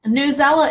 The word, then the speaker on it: Newsela: as a review for newsela okay I always called that news ela so I'm glad I finally learned how to pronounce that but newsela is another